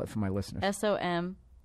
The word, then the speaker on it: Somnium: S-O-M-N-I-U-M. It's phonetic. It's just a weird word.